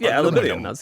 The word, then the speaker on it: aluminium: That is aluminium.